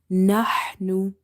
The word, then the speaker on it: نحن: Ha is from the middle of the throat. So in order to pronounce this ha, you have to open the mouth wide and you have to exhale the air out. Nahnu. If you say nahnu, it will be wrong because it will replace